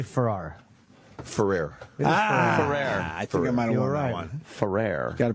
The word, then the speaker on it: Ferrer: your last name I say for our furrier Ferrer gotta pronounce that right now it's Jose Ferrer yeah